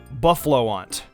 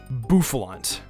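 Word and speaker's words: Bouffalant: Buffaloant. Really? Buffalant.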